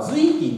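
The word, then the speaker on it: 瑞金: 省のこれ読み方が瑞金と読みます。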